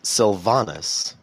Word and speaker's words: Sylvanas: And Those were easy to you got pronounce. Greymane, and it's Sylvanas.